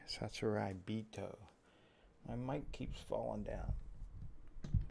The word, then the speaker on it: Sasuraibito: instead of saying a saucy burrito like everyone seems to. Ugh, there we go. Is that better? Testing. Yep. Instead of saying saucy burrito, it's actually Sasuraibito. Sasurai. Maybe it's I. Sasuraibito.